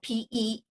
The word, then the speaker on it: per stirpes: Now, if you have an attorney that wrote your will years ago, the term might have been per stirpes, and it's spelled PERSTIRPES, per stirpes.